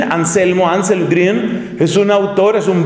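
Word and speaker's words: Anselm Grün: que se llama anselmo anselm grun g r u n la u se escribe con diéresis grun se pronuncia esa u suena como la u francesa ansel grun anselmo ansel gren es un autor es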